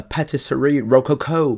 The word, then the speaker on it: Patisserie Rococo: Premier plat principal du jour, il s'agit de la Patisserie Rococo, parce qu'il faut prononcer ça à l'anglaise, parce que ça nous vient de Eagle Gryphon Games.